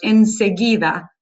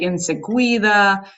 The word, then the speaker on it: enseguida: So just be careful with those because I'm hearing things like siguiente or enseguida should be a g sound, but I'm hearing like enseguida and things like that.